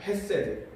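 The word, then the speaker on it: חסד: 여기서 주의 인자하심이다 할 때 그 인자하심을 히브리 원어로는 헤세드라고 읽습니다. 헤세드.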